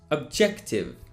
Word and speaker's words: objective: the middle of objective that is the beginning of joker the beginning of judge as an example pay